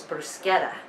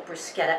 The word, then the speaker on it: bruschetta: toast right now uh the proper pronunciation they say is brusketta so if you want to impress your guests you tell them you have little brusketa appetizers waiting for them outside